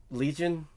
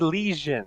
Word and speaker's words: Legion: He said lesion, as in an infection. Lesion, not legion.